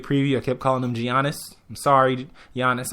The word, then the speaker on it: Giannis: And Giannis Antetokounmpo, who I kept calling during the NBA preview, I kept calling him Giannis. I'm sorry, Giannis, I had no idea that the G is pronounced like a Y.